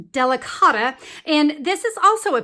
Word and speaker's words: Delicata: The last ink I want to talk about, I believe it's pronounced Delicata, and this is also a pigment ink.